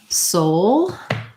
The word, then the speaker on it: soul: are the same um so they both have the o diphthong so make sure that you're holding your o long enough and that you're relaxing and closing your jaw as you go a good way to practice that is just by saying so by itself and holding your o longer and then adding your elf soul soul um because